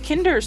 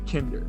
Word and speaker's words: Kinder: No, see, the problem is you just said Kinder. That's not how you say it in German. It's Kinder. you gotta enunciate and gesture sharply.